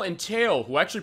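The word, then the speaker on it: Tael: Yeah, those are Tattle and Tail, who actually pronounced wrong forever until I met you, honestly, because I thought, oh, it's the Japanese pronunciation of T-A-E-L and T-A-T-L, so I saw it as Tattle and Tile, so it's like Tottle Tile, but Tattle Tail.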